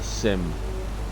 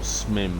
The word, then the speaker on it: SMIM: the video uh these require a Sim or smim however you want to pronounce it s i s SM